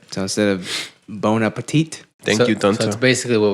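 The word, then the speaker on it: bon appétit: Apple see ya all right don't set of bone Appetit thank you that's basically what we do all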